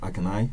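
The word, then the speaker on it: Akinyemi: can you spell your first name ak ak i n i n y e y e aai m i pronounce it Akai a k i n y e m i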